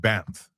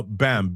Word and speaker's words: BAMF: and I call it BAMF or BAM. Uh BAMF, B A M F. The F is silent because I said so, that's why.